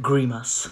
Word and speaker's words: grimace: Not grimace, not faire. Faire. Une grimace. Faire une grimace.